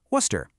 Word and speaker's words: Worcester: The big secret here is that you just have to ignore a lot of the letters. Worcester just becomes Worcester.